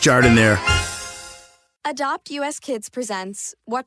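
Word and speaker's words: giardiniera: Hey guys, when you're at the counter, don't call it gardenia. It's pronounced Jardiniere.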